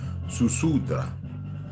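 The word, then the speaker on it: Ziusudra: I always say S. Zu, because it's pronounced Susudra.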